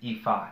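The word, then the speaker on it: Ifá: And number two is, the word ifa should be a hyphen over, it's ifa, not ifa, ifa, emphasis on the last A.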